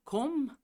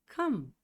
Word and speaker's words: come: Você fala come? Não, você fala come. E esse E final, nunca. jamais é pronunciado.